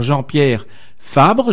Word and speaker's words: Jean-Pierre Fabre: Alors, celle-ci a en effet très rapidement soutenu que l'élection avait été remportée par Jean-Pierre Fabre, je prononce bien?